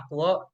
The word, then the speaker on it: aquo: kali jadi Heksa aquo H2O itu bacanya aquo Nah ini kan kan